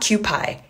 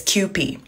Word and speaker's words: Kewpie: I know it says pie right here, but it's not Kewpie. It's Kewpie. If you can read Japanese, right here, it says Kewpie.